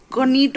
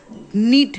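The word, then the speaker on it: knit: Students इसका खास याद रखना, क नीट मत बोलना, नीट है, क का साउंड साइलेंट है.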